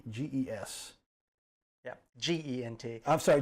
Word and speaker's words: Gentes: benches, but Gentes, Gentges. Yeah, Gent. I'm sorry, J. It sounds like a J, but it's G.